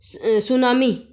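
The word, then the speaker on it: tsunami: ठीक है तो सेकंड नंबर अपना है द सुनामी ये क्या है सुनामी यहां पे मैंने हिंदी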